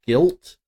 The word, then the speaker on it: GYLT: I do have to say the one reveal that looks the most interesting to me is the one called Guilt. I think that's maybe how it's pronounced.